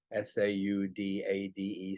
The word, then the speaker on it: saudade: Portuguese phenomenon called saudade, S-A-U-D-A-D-E, saudade, or it's pronounced differently in Brazil or in the Cape Verde Islands.